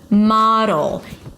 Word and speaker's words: model: model. The O is the O's and father ma. And then it's a D that shifts immediately to the L. Model. Make it a light D.